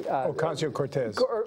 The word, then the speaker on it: Ocasio-Cortez: How do you pronounce her last name again? I'm sorry. Ocasio-Cortez.